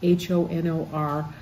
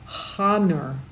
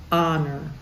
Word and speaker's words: honor: English we hold back honor we start with the O and just know that the H is there but we don't say it out loud so it's honor 34